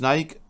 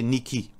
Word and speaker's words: Nike: Normalement, Mauricien prononce Nike, mais le vrai veut dire prononciation, c'est Niki. Niki, ça, c'est ce vrai terme.